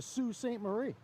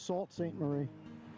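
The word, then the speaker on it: Sault Ste. Marie: until we got here I thought it was Salt St Marie if you look up how it's spelled but it's Sue St Marie is the way they pronounce it and uh glad I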